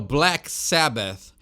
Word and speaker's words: Black Sabbath: todos os tempos que muita gente fala o nome errado E é o Black Sabbath Então tem que ter esse th no final parece pomposo parece frescura mas esse é o jeito correto de pronunciar o nome da banda Vem Comigo Black Sabbath